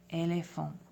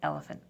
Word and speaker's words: éléphant: An example word for this is éléphant. E, accent aigu, L, E, accent aigu, P-H-A-N-T, éléphant, instead of elephant.